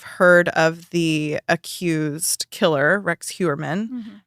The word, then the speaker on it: Heuermann: If you're new, you may have heard of the accused killer, Rex Heuermann. Mm-hmm. That's how you say it, right? Yeah. Heuermann.